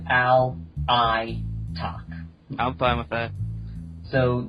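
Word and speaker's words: Alaitoc: Ali Talk. My bad. Um from what I listen to when ForgeWorld pronounced it, um they pronounced it all I talk.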